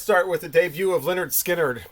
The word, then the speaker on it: Lynyrd Skynyrd: But okay, let's start with the debut of Lynyrd Skynyrd, pronounced Lynyrd Skynyrd, 1973.